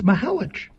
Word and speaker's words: Mihelich: And so now there is concern that maybe Nathan just doesn't want to tell us we're pronouncing it wrong. But I'm almost positive it is. Well, I'm positive it's Mihelich.